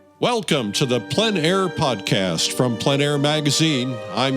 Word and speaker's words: plein air: In the Planair podcast, we dive into the world of outdoor painting called Plenair Painting.